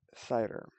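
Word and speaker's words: CIDR: happens to be the classless inner domain routing pronounced CER this created a new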